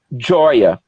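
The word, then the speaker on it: ĝoja: Aí, alegria em Esperanto se escreve com G e J, né? Então fica Goja, com acento circunflexo no G, e se pronuncia Joia.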